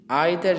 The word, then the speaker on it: either: तो यहाँ पे जो वर्ड इस्तेमाल हुआ ईच, आइदर या ईदर, नाइदर या नीदर, ये सारे क्या हैं? डिस्ट्रीब्यूटिव प्रोनाउंस हैं।